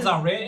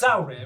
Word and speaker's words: Zalrir: You never went, actually it's not Zalrir, it's Zalrir. We're like, we've been calling you That would Zalrir.